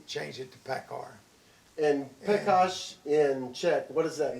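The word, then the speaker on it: Pekař: The original way is it came from Czechoslovakia, and the real pronunciation is Pekash. Absolutely right. Pekash is the real pronunciation, and when Daddy would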